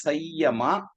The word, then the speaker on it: samyama: And it does mention about a specific tool called samyama, rightly pronounced actually as sayyama. But if you correctly spell, then it becomes samyama. It's actually sayyama is the right word.